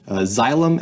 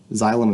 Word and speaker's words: xylem: vascular system are called xylem the X Y is pronounced like a or the x is pronounced like a z xylem and phloem xylem and phloem so let's